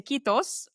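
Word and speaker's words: Kiitos: Um, hugely appreciate you and I'm going to say Kitos. I hope I pronounced it correctly so many years later.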